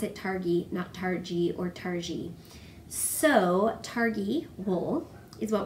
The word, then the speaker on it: Targhee: google it and found out that you do pronounce it targhee nacht RG or tarji so Targhee wool is what we're talking about